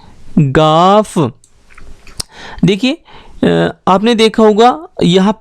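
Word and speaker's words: گاف: तो इसका जो प्रोनाउंसिएशन है वो होता है हमारा गाफ, और इसके लिए जो अक्षर यूज़ होता है, जो लेटर यूज़ होता है इंग्लिश का, वो होता है जी।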